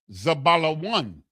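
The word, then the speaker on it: זבולן: The next brother, Zabalawan, exalted Leah, the zah, the ba, the la, the wah, and the na. Zabala one.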